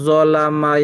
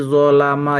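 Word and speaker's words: ظَلَمَ: Yang benar bukan zalama yazlamu tapi dolama yazlimu.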